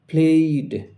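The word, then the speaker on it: played: এর পরে ইডি রয়েছে তাই এই ইডি এর উচ্চারণ হবে ড এর মত প্লেড ঠিক একই রকমভাবে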